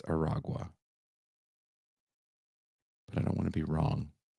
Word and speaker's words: Aragua: I kept saying Tren de Agua. I think I spelled it wrong, but it's not. It's Aragua. Aragua.